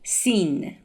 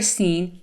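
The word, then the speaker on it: سین: The 15th Persian alphabet is named Sin, and it is pronounced like S, S, like the beginning sound of the letter singer in English.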